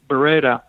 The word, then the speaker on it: Beretta: people know that firearm factory Beretta, as the Italians would pronounce it, yes, was founded 500 years ago, and it's probably the oldest firearms factory existing in the world.